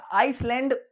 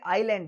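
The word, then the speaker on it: island: देखिए इसको नाम तो इसका आइसलैंड लगता है। अपन आइसलैंड बोलेंगे। लेकिन ये आइलैंड है। एस इसमें साइलेंट रहता है।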